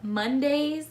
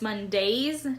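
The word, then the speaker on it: Mondaze: The name is Mondays, like Monday the day, but it's Mondays, D-A-Z-E.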